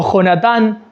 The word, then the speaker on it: Jonatán: Entra otro personaje en escena, que es el hijo de Saúl, que es Jonatán, o Jonatán, como quieran pronunciarlo ustedes, porque se puede pronunciar de las dos maneras.